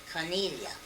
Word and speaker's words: Cornelia: Cornelia. How do you spell that?